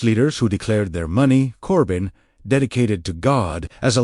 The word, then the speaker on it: Corban: The word Corban, pronounced Corban, meaning a gift or offering formally dedicated to God.